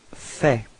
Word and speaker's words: fais: So first form for je, it's je fais. Okay, so final S is not pronounced.